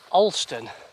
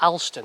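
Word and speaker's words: Alston: i made my way into olston and not allston as i kept calling it on the video so thanks to the person who corrected my pronunciation so from ulster i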